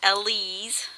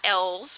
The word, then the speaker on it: Ellie's: And I have found out that it is Ellie's, not L's, because some kind person